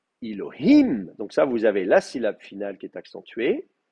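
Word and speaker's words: אלוהים: L'accent va donc être sur le I final. D'accord? Elohim.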